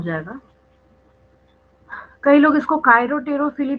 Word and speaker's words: chiropterophily: CHIROPTEROPHILY, कायरोटेरोफिली। ठीक है, मतलब बैट्स के थ्रू जब होगा तो कायरोटेरोफिली बोलते हैं, कई लोग इसको चिरप्टेरोफिली भी बोलते हैं, स्पेलिंग वही रहेगी, उसमें कोई चेंज नहीं आएगा, है ना।